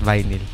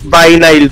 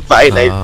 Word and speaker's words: vinyl: Hindi talaga viny ang ang pronunciation sa kanya sir. It's vinyle po. Vinyle vinyle. Okay. So hindi vinag vinyl. Okay. O may gusto ko yung pinili pala sir. Vinyal pala. Oo.